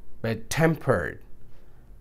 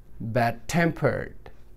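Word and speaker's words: bad-tempered: और अगर compound adjective होगा तो स्ट्रेस आएगा सेकंड पार्ट पर. बैड टेम्पर्ड, बैड टेम्पर्ड, temp पे आया, बैड टेम्पर्ड.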